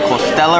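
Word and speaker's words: costela: It's called the costella right here. It's funny because in Spanish it's costilla, but it's Portuguese.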